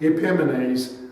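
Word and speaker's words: Epimanes: ileodoros he was later nicknamed epimenase that is the Mad Men which rhymes with epiphanies this King aroused with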